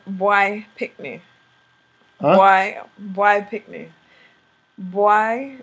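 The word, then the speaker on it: bwoy: Boy is boy. Come here, boy. You know, hey, look, boy. Come here. So, boy, boy, boy. It's spelled B Y O Y. B W O Y or B W O I.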